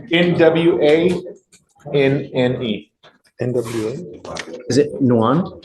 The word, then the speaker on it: Nguyen: Is it Nguyen? Nguyen? Nguyen? 1A. The N is silent.